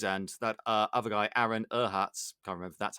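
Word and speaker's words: Aaron Ehasz: had those guys and that uh other guy aaron erhatz i remember that's how you say his name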